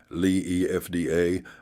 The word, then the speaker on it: Liefde: The Lift, pronounced Lee EFDA, a Dutch ship whose name means love.